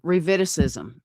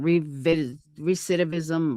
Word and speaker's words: recidivism: Reviticism.